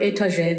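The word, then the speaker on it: étage: had brought from iran she pronounced the word etage the french way which she had already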